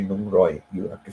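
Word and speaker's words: หนึ่งร้อย: I started like 100 is Nung Roy, or they don't pronounce the R, they say it like an L. So Nung Loy, they will say Nung Loy. Nung means one, so they will say Nung Loy, but actually the thing is Nung Roy.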